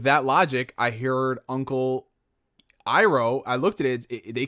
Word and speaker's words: Iroh: They call him Iroh, but I call him Iroh because that's how every person in my life, that's how they pronounce their names. Their I sounds like an E.